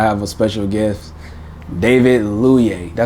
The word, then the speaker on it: Luyeye: Today I have a special guest, David Luyeye. Did I say it right? Luyeye, but it's close enough though.